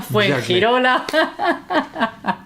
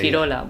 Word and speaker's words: Fuengirola: Benalmádena, Fuengirola. We don't say. Say it again. Fuengirola, you say. Fuengirola, something like that. Fuengirola, we have to say.